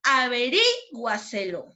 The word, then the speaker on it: averíguaselo: Y por último, la palabra averíguaselo, ¿no? Averíguaselo. ¿Dónde sonó más fuerte? En la sílaba ri.